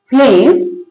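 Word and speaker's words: phlegm: First वाला क्या था, जब जी के बाद एम हो तो जी साइलेंट रहेगा, फ्लेम।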